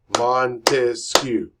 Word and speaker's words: Montesquieu: Montesquieu. He has 3 syllables in his name.